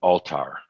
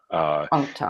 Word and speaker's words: Althar: 6, because this is, I don't know if you pronounce it Altar or Althar, The Crystal Dragon by Joachim Wolfram. And I think, isn't Joachim one of your Crimson Circle people? Yeah, actually, the book, he pronounces it Altar.